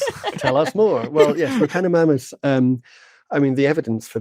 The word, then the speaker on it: Repenomamus: You're going to have to help me with the pronunciation on this one. Repenomamus? Yeah, Repenomamus, yeah.